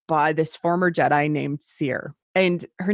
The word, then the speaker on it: Cere: this former Jedi named seer and her name is spelled c e ar e but it's pronounced like seer like like I'm a